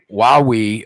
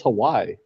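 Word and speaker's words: Huawei: Wowie, okay, who makes electronics. I bought a Wowie. Wowie? I thought it was Hawaii. No, it's not. It's not pronounced that way.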